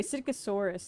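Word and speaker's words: Psittacosaurus: Um, anyway, Sitkosaurus, that's its name. It starts with a PS. The P is silent.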